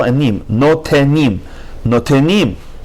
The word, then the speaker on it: notenim: 12, Notenim. No is its own syllable, te is its own syllable, and nim. Notenim, Notenim. Instead of saying notnim, you have to say notenim.